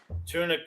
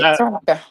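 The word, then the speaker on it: Tunica: And you were dire director of county affairs down in Tunic. Is it I don't know if I'm pronouncing it right. Tuna County, Mississippi. Tuna County. That's it. That's it. Tunka.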